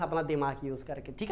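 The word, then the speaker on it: Die: ठीक है, इनकी किताब का नाम एक बार आप यहाँ पे देख लीजिए, डाई नहीं है, इसको दी बोला जाता है, एक मिनट, हाँ इनकी स्पेलिंग भी ना इतनी जबरदस्त है।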